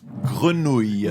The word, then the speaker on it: grenouille: Grenouille. Grenouille. I think the ouille is one of the hardest ones.